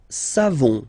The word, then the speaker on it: savons: Nous savons, so classic ending for nous, O-N-S, you don't pronounce the final S, nous savons, nous savons, okay?